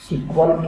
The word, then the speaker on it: SQL: ठीक है, और इसको प्रोनाउंस कैसे करते हैं? सिक्वल के नाम से भी प्रोनाउंस करते हैं। ठीक है, SQL ऐसे यहाँ पे, या इसको सिक्वल बोल लेते हैं।